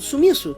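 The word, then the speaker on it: スミス: E o nome dele é Smith, que é pronunciado em japonês como Sumiço.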